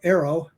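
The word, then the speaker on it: AARO: statement like that about Arrow that's how we pronounce the acronym NOW Arrow um that statement may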